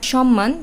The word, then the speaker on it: সম্মান: এর সাথে আছে আবার সম্মান তখন সেটি ম এর সাথে ম ফলা আছে তো এই শব্দগুলোতে ম এর উচ্চারণটা হবে ম এর মতোই এটা কিন্তু উচ্চারণ দিত